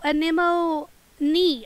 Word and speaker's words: anemone: we'll we'll Pat him here we go oh a Nemo knee okay got you thank you yeah I I have a hard time pronouncing it um 100 more resources indeed yes